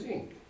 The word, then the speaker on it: INKE: an unaspirated E, but some also say INKE. And a group of our graduate research assistants talked about putting an umlaut over the E and then making t-shirts that riffed on sort of heavy metal concert shirts. We could be INKE, but we tend to say INK or anything of that sort.